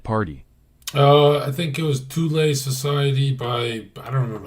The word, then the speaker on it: Thule: Yeah, it's Thule, it's not Thule. That's not how you say it.